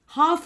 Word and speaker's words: half: අපි half කියන්නේ නැහැනේ. half කියලා කියන්නේ. එතකොට L තමයි silent letter එක. Next word is hour.